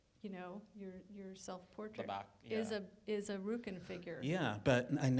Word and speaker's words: Rückenfigur: Rückenfigur. I never know if I'm pronouncing that right.